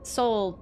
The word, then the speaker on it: Sol: But Sol, when we pronounce it, is also, like, it sounds the exact same as S-O-U-L.